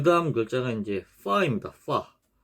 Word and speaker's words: ف: 그래서 파 경우에는 파는 발음이 영어 F하고 발음이 같아요. 그래서 입술 소리죠.